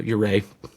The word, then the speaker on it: Ouray: Like, what is the correct accent on the on the second syllable? So, ureay.